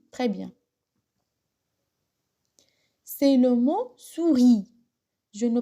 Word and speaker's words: souris: أقرأه souris دون أن أقرأ الحرف الذي باللون الرمادي اللي هو S. Je ne prononce pas la lettre en gris. Donc, souris. Répétez.